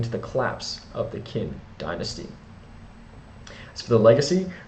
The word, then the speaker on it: Qin: built upon the name China itself is derived from the word kin perhaps just pronounced chin pardon me my pronunciation